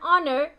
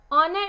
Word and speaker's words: honor: of a vowel so in an honor it's starting with h but when you pronounce the word you get the sound of o so it is starting